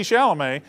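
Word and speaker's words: Chalamet: how you say it it's Timothy Timothy Timothy shalam they wanted a picture with timoy shalam who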